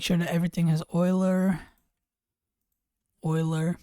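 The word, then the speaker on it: Euler: Oiler. I used to say uler, but I learned that it's oiler, so I pronounce it that way now.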